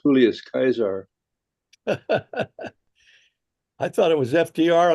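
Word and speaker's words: Julius Caesar: in your uh coins would be pronounced julus kaisar I thought it was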